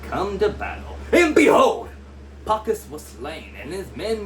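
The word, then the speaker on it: Pachus: Am I saying that? I'm saying his name wrong. Oh my God. Let's see. Pachas. There we go. That's way easier to say than what I was trying to say.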